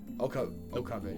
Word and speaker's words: Okabe: 聞いている Okabe. 俺は Yeah, 法院 I だ keep pronouncing it wrong.